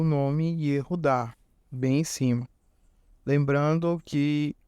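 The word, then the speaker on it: יהודה: Então aí a gente lê Yehudá. Mas como isso em si funciona? Vamos lá. Aí embaixo está escrito Yehudá em português. E aí está em dourado o U, que é representando essa letra Vav.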